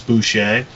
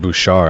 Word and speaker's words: Boucher: boucher out of arizona oh that's how you say i said bouchard i didn't know how to pronounce it it's just because uh the water boy you know bobby boucher that's the only reason i know how but anyway um he